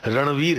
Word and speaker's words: रणवीर: अंग्रेजी में नहीं है, इसीलिए लोग रणबीर बोलते हैं, जबकि सही उच्चारण रणवीर है वो है, लेकिन उनसे बोलते नहीं बनता, और वो वी को भी बी बना दिया उन्होंने, रणबीर बोलने लग गए।